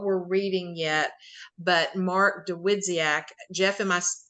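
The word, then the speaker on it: Dawidziak: And then December, we have not chosen what we're reading yet, but Mark DeWidziak, Jeff, am I pronouncing that correctly?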